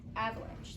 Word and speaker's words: avalanche: Avalanche. The E is silent just like this Paul was before you came storming in Thor.